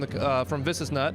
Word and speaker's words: Visesnut: And I'm here with Marshall from Visesnut. Am I pronouncing it correctly? That's right. Yeah, Visesnut USA. Visesnut.